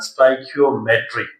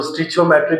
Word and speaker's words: stoichiometry: है chapter number three that is known as स्टाइकियोमेट्री। इसको स्टिचियोमेट्री भी पढ़ते हैं।